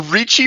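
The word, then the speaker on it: Ricci: while to disentangle them like a Richie manifold I think is how you pronounce it actually but it's spelled r i c c i if I recall correctly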